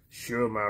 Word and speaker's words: Schurmier: 77 48 that's 4251 Shar Road Shar is spelled s c h u r m i e r s c h u r m i e r Sher my Road Houston Texas 77048 USA